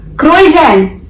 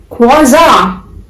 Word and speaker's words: croissant: It's not croissant. It's croissant. How you guys have to pronounce this word? Quasar. अब से आप इसे क्रोजैन या क्रोइजैन whatever you used to call it नहीं बोलेंगे. You have to say this word as quasar.